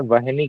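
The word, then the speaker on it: वह्नि: वाला और धनुष का और लास्ट वाला है वहनी कल्पम आधा ह और पूरा ना ह में आधा वहनी है ना वन ही नहीं है वहनी है वहनी कल्पम ओके एक बार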